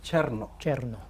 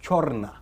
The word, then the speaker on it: Cherno: mention my channel name the right pronunciation is Cherno what they pronounce it as cherna oh you understand okay so it is some people say you understand my friend